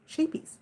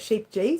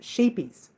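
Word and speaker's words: Scheepjes: know how to say this but it's actually pronounced sheepies a lot of people call it sheep G because it's got a J in there but it's pronounced sheepies will and um they you know they're not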